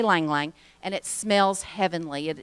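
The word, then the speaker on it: ylang-ylang: They say Lang Lang. I'm not sure how to pronounce it. It's Y-L-A-N-G, and I always thought you said the Y, but they say Lang Lang, and it smells heavenly.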